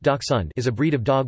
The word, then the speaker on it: dachshund: The dachshund, pronounced Dachshund, is a breed of dog with shorter legs and a longer back than most.